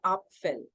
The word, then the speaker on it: Apfel: want to tell you कि इस word को pronounce कैसे किया जाता है. The real word जो है Apfel.